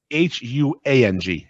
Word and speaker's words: Huang: Pronounced Huang.